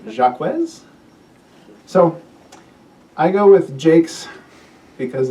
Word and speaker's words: Jaques: Uh her contemporaries spelled it in a variety of ways including uh J A ke. So if you phonetically pronunciate that Jake and for me that's the easiest to say which is why I've taken historical evidence and said I'm going to use that.